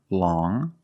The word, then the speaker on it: long: has five different pronunciations first we see long with the sound m which is a nasal sound long but then you have